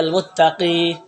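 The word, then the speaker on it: المتقي: মুত্তাকিন, এটা যদি আলিফ লাম সহ আসে তাহলে এর উচ্চারণটা হবে আল মুত্তাকি, আর যদি আলিফ লাম ছাড়া আসে তাহলে মুত্তাকিন, তোমার ইয়াটা পড়ে যাবে।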